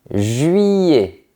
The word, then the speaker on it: juillet: I L se prononce I comme dans famille, fille ou Guillaume. Je répète juillet.